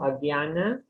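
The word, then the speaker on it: ajñāna: Actually, is Dhyan. J is G. You pronounce it as G. I know it's, I don't know why they put K, but anyway, it's Dhyan. Okay. Om Agyana.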